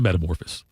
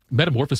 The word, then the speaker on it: metamorphosis: It's a metamorphice. Metamorphosis better than I think we should metamorphosis. I think we use that word. You could cut a syllable off of it.